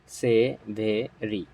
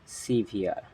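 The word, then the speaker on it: severe: কথা বলব এই ওয়ার্ডটা আমরা পড়ে থাকি কেমন সে ভেরি ইটস নট সেভেরি ইটস সিভিআর এর উচ্চারণ কি হবে এর উচ্চারণ হবে হচ্ছে সিভিআর সি ভি আর সিভিআর এর অর্থ হচ্ছে প্রচন্ড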